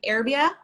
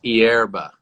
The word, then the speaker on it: hierba: I was like, okay, hierbia. It's hierba. Hierba. Yeah. Because there's an H, and I'm like challenged with the. And if you really want, you could roll your R's too if you really feel like it.